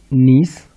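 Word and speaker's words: gneiss: Next है नीस, spelling GNISS होता है।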